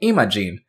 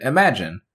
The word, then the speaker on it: Imagin: Some characters say Imogen, others pronounce it like the English word imagine. I'm personally used to saying Imogen, but I'll say it both ways throughout the video.